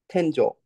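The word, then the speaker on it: 天井: Tenjo? Tenjo. Yes. No, it's not. Oh, it is. So here it's pronounced as jo. Hi. But in this case for a well is e.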